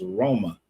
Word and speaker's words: Roma: But the city of Roma has always been pronounced over there as Roma. Just like we say Naples, you go over there is Napoli. So, I don't know how